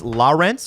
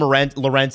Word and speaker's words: Lorentz: Now, to pronounce it properly, it's Lorentz or Lorentz. Oh. But Those are 2 different pronunciations. it's more like Lawrence as in the river or the waterway. But people call him Lorentz, and he's fine with that.